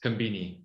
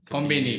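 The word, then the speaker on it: コンビニ: So I was familiar with that term, but I assumed it was Japanese and not a shortened Japanese semi-mispronounced version of convenience, Konbini. Konbini. Is from English.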